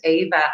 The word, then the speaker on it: Éabha: the sound a and the bh is the sound v so i decided i